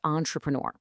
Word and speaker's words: entrepreneur: And entrepreneur is entrepreneur.